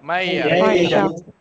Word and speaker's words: Maija: Maija. Maija. Maija. Maija. Oh, Maija. Very good. Maija. A female name. Maija. Maija. So these are Finnish names. Maija.